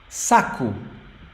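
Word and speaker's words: saco: other one Saku Saku now you may have noticed you may have noticed that the O in the end of the word has a very soft sound so it's not s it's Saku actually it sounds like U Sak Saku this is the strong syllable sa and then Saku okay so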